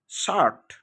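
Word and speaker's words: shirt: Word এর মাঝে আই থাকলে এবং আই এর পর আর এবং অন্য একটি কনসোনান্ট থাকলে আ এর মতো উচ্চারণ হয়।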